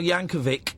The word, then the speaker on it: Yankovic: Are you aware that Weird Al Yankovic, as that's how his name is pronounced, has been on this show?